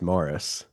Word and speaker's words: Maurice: they like they in in England Maurice is Morris as as I understand about it. Yeah. Oh some people call him Moraurice.